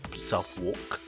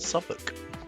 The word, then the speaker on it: Southwark: is dedicated to suffolk not south walk but pronounced suffolk we have in previous